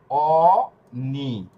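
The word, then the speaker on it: ogni: এই যে ও এরপরে জি এন এ এরপরে হচ্ছে ই, অ নি, এটার উচ্চারণ কি হয়েছে? অনি। এটা কিন্তু অগ্নি না, এখানে জি এর উচ্চারণ হবে না, এটা নিয়র উচ্চারণ হবে।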